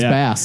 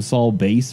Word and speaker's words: Bass: i guess we figured out his last name pronunciation is bass it's a batman you put it there because so many people call them saul base or something probably but look at that little